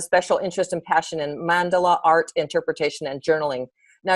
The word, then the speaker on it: mandala: career, has a special interest and passion in mandala art, interpretation, and journaling. Now, you probably know that I don't know anything about mandala art because I'm probably mispronouncing it. How do you say it? Mandala. Yeah, mandala.